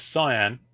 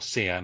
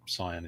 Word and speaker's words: cyan: There's cyan or canyan as a lot of people pronounce, but cyan is correct, trust me.